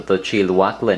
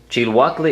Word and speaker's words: Chilhuacle: Chiluacle is not a Spanish name, it's actually a Nahuatl name, in other words, Aztec name for this particular chili.